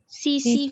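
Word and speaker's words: tsetse: ये टीसी, जो टीसी नहीं होता, टी साइलेंट है।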